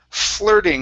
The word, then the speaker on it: flirting: Okay, next up is the word flirting instead of flirting. Okay, the IR is an ER sound.